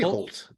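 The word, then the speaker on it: Hoult: you say his name I say Holt Holt okay Colt 45.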